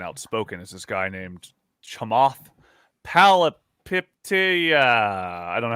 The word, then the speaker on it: Chamath Palihapitiya: And so one of the people that has actually been really interesting and outspoken is this guy named Chamath Palihapitiya. I don't know how to pronounce his name.